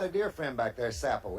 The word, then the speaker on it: Sappo: And I've got a dear friend back there, Sappo, S-A-P-P-O. That's how you pronounce his name.